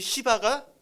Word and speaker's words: 시바: 그 사람의 이름이 뭐죠이 발음 너무 세게 하면 안 돼요이 큰일납니다 예 발음 좀 세게 하면 큰일나요이 시바가 어 등장을 합니다 사울이